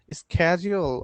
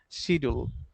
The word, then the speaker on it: schedule: Schedule or schedule? In English, it's schedule. In America, it's schedule. So your Schedule. choice. Okay. So both are correct.